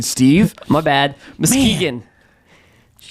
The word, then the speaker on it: Muskegon: It's Muskegon, Steve. My bad. Muskegon.